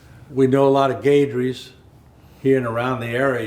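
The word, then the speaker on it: Guedry: And actually, Gaidry is spelled G-U-E with the accent aigu, which means E sounds like an A.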